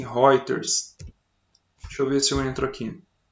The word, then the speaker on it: Reuters: agências classificadoras de crédito uma delas se escreve reuters mas pronuncia-se Rogers sobre esse eu entro